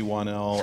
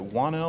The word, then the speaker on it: Whannell: I'm sitting here with the wonderful Leigh Whannell, and am I saying that right? Is it Whannell or Whannell? You said it very right.